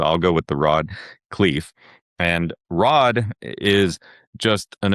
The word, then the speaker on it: Khleif: today Rod is it is it Cleve or Clyve? Cleve. Cleve, okay all right cuz I've heard people say it two different ways so so I'll go with the Rod Cleve and Rod is just an amazing entrepreneur.